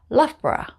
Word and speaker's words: Loughborough: it's a borah sound so we just say loughborough love bra the names in the next group